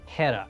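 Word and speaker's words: Héra: character it is pronounced Hera it is done with an anglosaxon spelling it is done with an Anglo-Saxon pronunciation and the goal here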